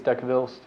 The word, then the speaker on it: Dahlqvist: How do you say it? I think it's Dekvilst. Okay. As long as that's the same guy I'm thinking of. It's DAHLQVIST. So Yeah, so I think it'd be Dekvilst.